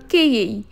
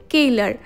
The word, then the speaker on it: Cailler: আরে আজকে আমরা ঘুরে দেখব সুইস চকলেট ফ্যাক্টরি কেই তবে এই কেই হলো একটা ফ্রেঞ্চ ওয়ার্ড আসল বানানটা ওই যে দেখো ওপরে লেখা আছে মানে ইংলিশ ওয়াইজ বললে কেলার এটা হলো সুইজারল্যান্ডের মোস্ট ফেমাস একটা চকলেট ব্র্যান্ড।